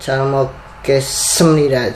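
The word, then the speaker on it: 잘 먹었습니다: Jadi kita sudah makan nih, tadi sudah makan, dan ketika kita sudah makan ya, kita harus bilang calmokesemnida. Jadi S-nya itu agak tebal teman-teman, itu menandakan itu kalau kita sudah makan dengan baik dan benar teman-teman.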